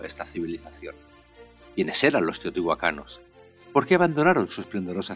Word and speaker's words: Teotihuacan: él menos certezas tienes en Teotihuacán o Teotihuacan como es su correcta pronunciación en la lengua nahel los arqueólogos no lo tienen fácil a no haber evidencias escritas en Teotihuacán todos son conjeturas el